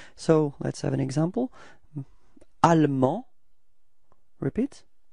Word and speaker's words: allemand: And then en, so A-N-D, finally is not pronounced, so it's en, and feminine form is ande. Okay, so you can see that the final E in the feminine form only gives you the possibility to pronounce the D, okay?